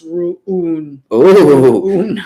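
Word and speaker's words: Rune: warrinka says for life said roon is apparently pronounced rooney good knowledge shot right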